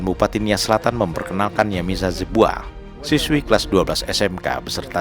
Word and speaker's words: Zebua: Ejaannya? Yamisa. Y A-I-S-A. Y A Y-A-M-I-S-A. M-I-S-A. Ya, Yamisa Jebua. Yamisa Zebua.